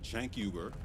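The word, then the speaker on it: Cenk Uygur: This one's about the network itself, specifically their leaders, Chank Yuber, that's how the founder of TYT, Chank Yuber, pronounces his name, by the way, and the self-labeled politically homeless Ana Casperi.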